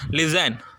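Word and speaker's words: listen: வருது சரிங்களா சோ அப்ப மிடில்ல வரும்போது அந்த டியய நம்ம என்ன செய்றோம் லிஸ்டன்னு சொல்லல அந்த டி என்ன எதுல இருக்கு சைலென்ட்ல இருக்கு அப்ப நம்ம என்ன சொல்றோம் லிசன் சோ மிடில்ல டீ வந்திருக்கு அந்த டிய என்ன செய்றோம் சைலென்ட் அந்த டிய ப்ரொனௌன்ஸ் பண்ணக்கூடாது வாட்ச் இங்க பாருங்க வாட்ச் மிடில்ல வருது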